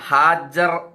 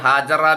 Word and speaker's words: ഹാജർ: ഹാജർ എന്നാണ് അതിന്റെ പ്രൊനൗൺസിയേഷൻ കേട്ടോ. നമ്മൾ ഹാജറ ബീവി എന്നാണ് സാധാരണ പറയാറുള്ളത്. ഹാജർ എന്നാണ് അതിന്റെ ഉച്ചാരണം, അതിന്റെ പ്രൊനൗൺസിയേഷൻ.